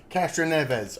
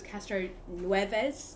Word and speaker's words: Castroneves: And she went, Castroneves. I was like, okay, are you sure? She went, yeah. I was like, okay. listen, I also read the name wrong. I thought it was Castro Nueves, like snow.